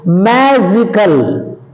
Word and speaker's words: magical: Next one is magical, on the anti-penultimate syllable.